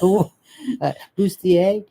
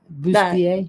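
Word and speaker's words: boudoir: I can't pronounce it. Pajama. No. Booier. Yeah. Booier.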